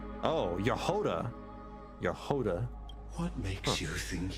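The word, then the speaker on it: Jahoda: For example, Jehoda in Genshin is pronounced with Y instead of J. Oh, Yehoda.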